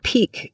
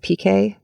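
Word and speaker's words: pique: the CE times spin the word Peak p i qu e sometimes people mispronounce it PK sometimes people mispronounce it PK to be funny but Peak is uh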